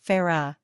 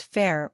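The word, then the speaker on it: Feyre: mispronounced Farah's name Moss has confirmed that it's pronounced Farah not fair or fairy four reand was inspired by Welsh names a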